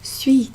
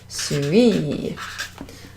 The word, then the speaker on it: suis: Je suis. Can't see that too easily, can you? J-E, je, that means I, and then S-U-I-S, so we don't pronounce that S at the end.